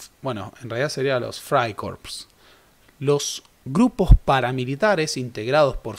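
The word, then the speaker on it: Freikorps: eran Hombres de acción se escribe Fray corps pero en alemán la e y se pronuncia Ay Por eso decimos Fray corps Ese es el clima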